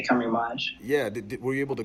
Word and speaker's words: Camerimage: The Polish say Camerimage.